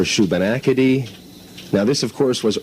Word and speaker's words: Shubenacadie: would have to be mispronouncing regional names of towns, i.e. Muscadabuit for Muscadabit, Shubenapity for Shubenacadie.